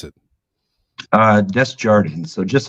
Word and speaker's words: Desjardin: pronounce it uh that's Jordan so just like it's spelled this journey it's not it's not some fancy French name uh if you say it in French it is uh Desjardin if you say it